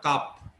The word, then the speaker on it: cusp: x equal to 0 is a cusp না কাপ, s এর উচ্চারণ হয় না, কাপ লোকাস, কারণ এটা